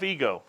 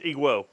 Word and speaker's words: EGWO: on their videos and it's ego i think the w is silent if it's not it's iguo but anyway jf iguo